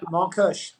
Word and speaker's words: Montkush: But then, when you first told me, about Montkush, am I saying it right? Yeah, Montkush.